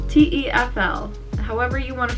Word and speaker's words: TEFL: i am officially starting my t t full taffle t-e-f-l however you want to pronounce it i like to call it tefl